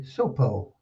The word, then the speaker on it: Sopo: Pronounce the name Willie Sopo as Willie Sopo. T in Sopo is silent.